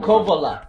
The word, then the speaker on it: Kouvola: How do I pronounce it? Kouvola. Kouvola, yeah. Kouvola.